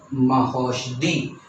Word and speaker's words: महौषधि: छोटा ओ, छोटा ओ, लेकिन इसका जो प्रोनाउंसिएशन होगा वो होगा बड़ा ओ का। जैसे कि यहाँ पे है महौषधि।